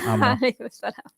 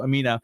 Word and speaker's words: Amna: So assalamu alaikum, Amna. And yes, you are right. I always mispronounced your name every single time when you were my guest, and I always call you Amina.